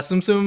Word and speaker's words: Tsum Tsum: stuff on yeah and it's called suum Tsum tum Tsum uh Tsum Tsum uh Tsum or like that's how you say it tum Tsum that's the only way to say it like excuse me